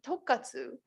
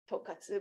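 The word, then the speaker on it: 特活: So that was one of the reasons that I first started using tokkatsu, because it's short for tokubetsu katsudo. No one can pronounce tokubetsu katsudo. About tokkatsu, I said, all of you know tonkatsu. Sorry about it, it's pork, but tonkatsu, right? You just drop the N.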